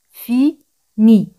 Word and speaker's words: finis: Je finis. Je finis. Ese siempre al final no se pronuncia.